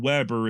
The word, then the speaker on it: Weber: of his name is Weber Webb R and Weber is how his modern descendants pronounce it the German born Weber however had